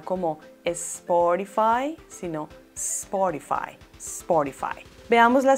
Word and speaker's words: Spotify: con s en inglés porque en español sencillamente no tenemos palabras que inician con sp por lo tanto la correcta pronunciación es spotify spotify en este caso en